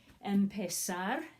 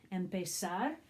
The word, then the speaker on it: empezar: Okay, you pronounce it empezar, empezar, and it means to begin or to start.